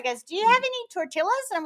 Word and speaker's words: tortilla: anna i'm gonna get this i think okay tortilla yes yes tortilla yeah like one of my